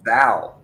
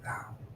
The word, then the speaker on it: thou: America as a what as a thou t h o never heard that before a th h o a thou a thou oh a thou okay I was mispronouncing that